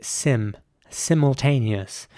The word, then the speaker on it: simultaneous: next word is spelled s-i-m-u-l-t-a-n-e-o-u-s and in British English it would be pronounced simultaneous and I want to emphasize the I again at the beginning it would be Sim simultaneous whereas in American English